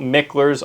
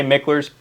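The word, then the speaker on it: Mickler: and write, it's spelled Miklers all day long. M I C K L E R S. But it's a local family name here. So it's pronounced Mikler. If you say Miklers, people dead giveaway.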